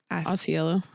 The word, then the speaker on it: Ausiello: Ausiello. Ausiello and Kit Cowan's relationship, which takes a tragic turn when Cowan is diagnosed with terminal cancer. Sad. Yeah. So we have our author, Michael Ausiello, and director, Michael Showalter.